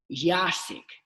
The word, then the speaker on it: Jasiek: Jasiek.